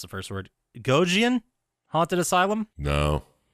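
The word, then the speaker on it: Gonjiam: Gojian Haunted Asylum. No. Spell it? Gonjian.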